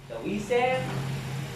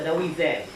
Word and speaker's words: Taoism: Taoism, di ba ang spelling nun ganito? Pero ang pagbasa niyan is, you pronounce it as da, kasi da yan sa Chinese. Taoism.